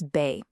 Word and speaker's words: B: B is bay, like in Banane.